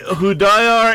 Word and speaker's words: Hudayar: Salih Hudayar, and if you want to Google search his name, he's with the East Turkestan National Awakening Movement.